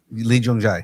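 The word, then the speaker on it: Lee Jung-jae: Lee Jung Jae. Lee Jung Jae, that's it.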